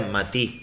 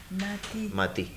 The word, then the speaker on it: matí: Así que en realidad la palabra original era matí, no mate. Matí, sí, con acento en la I.